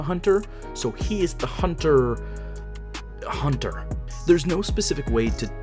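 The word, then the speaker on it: Hunter × Hunter: basic desires of imagination hunter hunter and yes the x in the title is silent it scratches every adventure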